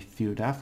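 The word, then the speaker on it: ciudad: oh I explain death when you have a d on the end it's like a th and instead of a thing I don't think I came up last time but this only happens with a few words so I'll mention them while I I do them so it'll be theoda which is city of course in Spanish of course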